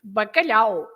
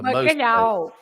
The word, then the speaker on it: bacalhau: Then you also have the A and the U together, which is au, like in the famous bacalhau, right? Of course, the bacalhau.